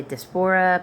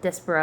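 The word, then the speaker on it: diaspora: despera I usually say despora, but despera I think is the right thing where they just come in and take you know they get completely removed from the area.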